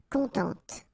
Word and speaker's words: contente: Of course, if you put the feminine form, then you will have to add this and then phonetically it will be a bit different. It will be contente.